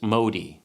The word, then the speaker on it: Modi: me the most was this Modi yes that is how you say the company's name it's a pretty simple